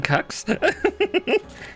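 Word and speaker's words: GQuuuuuuX: I don't know Gundam cucks yes apparently that's how you pronounce the Q uu uu X is cucks nice this feels like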